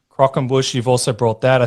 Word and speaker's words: croquembouche: You've done a few things, and please correct my pronunciation because I can't pronounce half of these, but is it the what's it called? Croquembouche. Croquembouche.